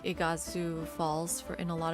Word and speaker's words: Iguazu: So you wouldn't get like Igazu Falls for in a lot of games. Is that how you say it? Igazu uh Iguazu Falls.